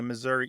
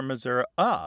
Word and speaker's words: Missouri: because some missourians don't say Missouri e or Missour they say Missour more like the e in get or met yes and that readily